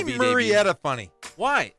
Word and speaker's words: Murrieta: No, it's Murrieta Valley, and it's data. It's not Mur. It is too. It's not Murrieta. It is too. It's Murrieta. Murrieta. It's not Murrieta. Pronounced M-U-R-R. Murrieta. Murrieta.